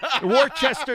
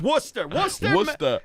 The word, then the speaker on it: Worcester: You mispronounced the name of the city. Yeah. Worcester. It's Worcester.